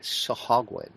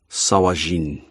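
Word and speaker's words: sahuagin: The Sahagwin. Yeah, thank you. I couldn't remember. This is a Dwarven translation of an Elvish word, so it is pronounced Sawajin.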